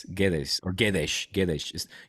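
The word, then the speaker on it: Guedes: was a Valen G GES or GES GES the U you don't pronounce it's like g g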